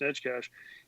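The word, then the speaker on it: Neckar: of Stan nkh it's spelled Necker but it's pronounced netcash and he came in I thought he played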